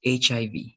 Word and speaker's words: HIV: of these words remember this is not going to be h e v right remember that you need to pronounce letter by letter so this is hiv right i hiv let's